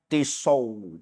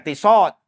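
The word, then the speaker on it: Tissot: Ini jam tisau, bukan tisot.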